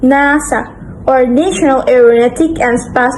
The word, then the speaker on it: NASA: Unlike initialisms like FBI or where each letter is pronounced separately FBA, acronyms are pronounced as a full words, like NASA is pronounced NASA.